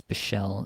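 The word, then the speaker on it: Bichsel: And then Leon Bichelle, I think it's Bichelle is the correct way to pronounce it.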